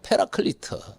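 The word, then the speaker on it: Paraclete: 성경에는 여러 가지 이름 중에 하나가 보혜사인데, 이 말은 히라보로 파라클레이토스란, 영어식 발음으로는 페라클리트, 한자로는 보혜사라고 해서 보존할 보자, 은혜 해자, 스승사, 가르칠 사자입니다.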